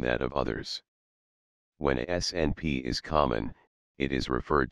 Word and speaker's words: SNP: These variations can come in a number of forms, but the most common variation is the single nucleotide polymorphism SNP, pronounced SNP representing a single difference in the individual units that make up DNA.